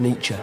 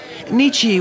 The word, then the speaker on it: Nietzsche: Mr Burkett nature what uh I think it's pronounced nature so it is if you're a German I'm decent Irish Nichi would describe the very existence of conscience as